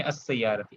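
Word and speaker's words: السيارة: शीन जो है शमसी है, तो अल सय्यारती पढ़ेंगे, अस सय्यारती, अस सय्यारती, लाम को साइलेंट हो जाता है, लिखा जाता है लेकिन पढ़ा नहीं जाता।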